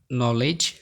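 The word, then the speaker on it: knowledge: বাক্যের শুরুতে কে এন থাকলে এন অনুচ্চারিত থাকে, যেমন নি, নীল, নেল্ট, নো, নু, known, নলেজ, knife, night, not, NEET, নব, নক, নিকার্স, নাকল, নেক। এরপরই তোমরা দেখতে পাচ্ছ সাইলেন্ট জি।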